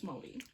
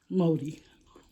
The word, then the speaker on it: Māori: You know that's how you say it. It's Māori. Māori. Get it right.